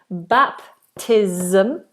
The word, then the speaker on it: baptism: Baptism, again, a Z. Like I said, all ISMs are Zs.